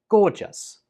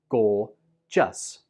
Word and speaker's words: gorgeous: pronounce this word like gorgeous. Gorgeous. This word only has 2 syllables. Gorgeous.